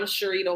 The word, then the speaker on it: Cherita: bullet points so I'm Sharita um if anyone sees my name and you're questioning how to pronounce it literally Shar and Margarita put together so always like to